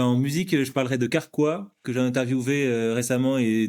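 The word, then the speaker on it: Karkwa: ou et ben en musique je parlerai de carqua que j'ai interviewé récemment et Don don je suis en train de faire une petite BD sur le parcours carqua c'est un group un groupe québécois ok qui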